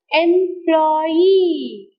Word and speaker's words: employee: Employee. So whenever you pronounce a syllable, stressed syllable, you have to be much more louder, longer and higher. So employee. You have to pronounce the word like employee.